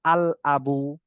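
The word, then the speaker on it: الأب: এখন আবুন শব্দের শুরুতে যদি আলিফ লাম যুক্ত হয় তাহলে আলিফ লামটি উচ্চারণ হবে। যেমন আল আবু, আলিফ লাম যুক্ত হয়েছে এবং লামটা উচ্চারণ হইতেছে আল আবু।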